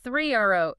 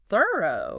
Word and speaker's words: Thoreau: last name because while we all say three o today, right? Stress on the second syllable. Contemporaries in 19th century New England would have said it more like thorough or even thorough.